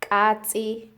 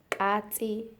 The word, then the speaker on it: katsi: Anyway, continue with the pronunciation. So cat is katsi, katsi.